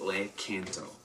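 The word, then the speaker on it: Lakanto: look into the cans oh yes it's how you say it Lake in tow so this one here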